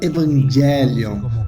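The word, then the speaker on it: εὐαγγέλιον: E no Novo Testamento encontramos esta mesma frase, as boas novas, que em grego se pronuncia evangelion, e às vezes também traduzimos como evangelho.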